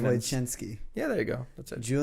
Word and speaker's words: Wojczynski: No, it's actually really simple when you pronounce it. Wojczynski, like chin. Wojczynski.